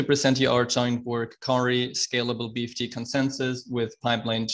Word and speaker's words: Kauri: and performance session titled i believe it's pronounced cowery scalable bft consensus with